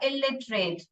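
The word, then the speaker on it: illiterate: Second वाला इलिटरेट, इसको कैसे पढ़ने का, इट इरेट, इलिटरेट, वो ई है ना, थोड़ा साइलेंट पढ़ने का, इलिटरेट।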